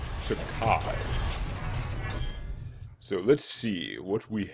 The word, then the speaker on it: Takei: George Takai. Not Takei, Bill. Pronounced Takai.